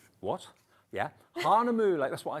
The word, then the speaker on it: Hahnemühle: is it not hang on I've got to pronounce this correctly I'm so excited to see this m what yeah Hana mle that's what I said Hana moule at 6 o'cl tonight with Mr Liam aarion